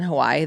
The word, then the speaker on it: Hawaii: I did a couple spots in Hawaii that were just That's very always silly. so interesting to me that you lived in Hawaii.